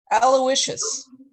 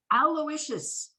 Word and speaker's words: Aloysius: wish you meet him how do you say his name aloysius aloysius i told him i'd